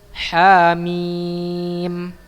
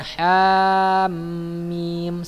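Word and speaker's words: حم: Hamim, bukan hamim, salah ya. Bacanya hamim. Nah, ini ada cara membacanya. Hamim ya. Mimnya ini tidak antum leburkan ya. Bukan hamim, salah ya. Tapi hanya berdiri tegak sendiri. Hamim. Panjang ya, mimnya panjang 6 harokat ya.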